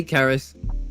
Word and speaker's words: Caris: So, Caris, you you say Caris with like a hard like K sound.